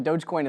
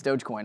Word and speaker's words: Dogecoin: official pronouncing on that i think it's dogecoin i've always been told dogecoin i i i could be wrong but that's what i've always done with it dogecoin